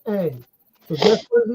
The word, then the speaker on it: Aang: It ain't about how it's spelled. It's how it's pronounced in the show. And in the show, they pronounce it Aang.